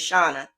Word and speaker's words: Shauna: My name is not Shanna, it's Shauna. And she has a niece named Shanna, so she gets us mixed up because our name is spelt the same way, but it's pronounced differently.